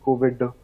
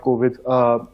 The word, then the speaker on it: Kovid: So I know you stress on the D because it's the key pronunciation of the D that actually differentiates your name a little bit from the virus.